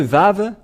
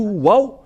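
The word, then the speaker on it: ו: dans l'alphabet voilà le vave voilà V ou vave c'est bien ça donc c'est pas du tout wou mais on le prononce bien V et le V est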